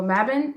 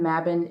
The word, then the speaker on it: Mabon: Some people pronounce it differently, but that's the way I pronounce it. So Mabon is a pagan holiday, a Wiccan slash pagan holiday.